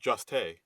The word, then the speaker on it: Jost: I believe Hmm. it's pronounced Juste.